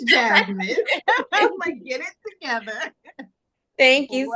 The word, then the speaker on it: Chasmine: their own vites CH chasmine welcome to the show about to say my name which is Jasmine get it together thank